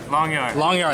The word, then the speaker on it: Langjahr: I'm not gonna pronounce his last name. I'm gonna botch it. Langjahr? Langjahr, there we go, Langjahr.